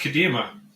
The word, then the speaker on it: Kadima: Tell us a little bit more about you and Kadima. Is this how we pronounce it? It is pronounced Kadima. You got it. Woo! Yeah.